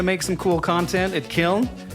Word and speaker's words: Kiln: That's K-I-L-N, as in gnarly, for you who are old enough to know what that word is. I know gnarly is spelled with a G, but still it's the sound I was going for.